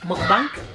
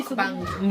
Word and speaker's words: mukbang: It took me a while before I could pronounce this. Do you know why? Mukbang. Yeah, mukbang. No, it's not bank. That's because I like Easy money. bank. Mukbang. Whatever bang it is, it's muk, you know.